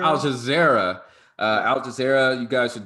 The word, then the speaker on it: Al Jazeera: Alzaya? oh, you talking about Al Jazeera? Al Jazeera.